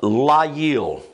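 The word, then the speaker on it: ליל: And it's pronounced layil.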